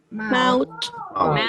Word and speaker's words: mouth: So when we have O-U together, it sounds like ow, ow. For example, this word over here, we say? How do we pronounce it? We say? Mouth.